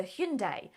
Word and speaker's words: Hyundai: year has been a little bit quieter for Hyundai apart from an iconic name pronunciation campaign oh it's Hyundai by the way